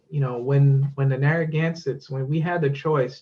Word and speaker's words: Narragansett: really matter so much but the pronunciation and we decided to go with narragansett as it's spelled today and the reason is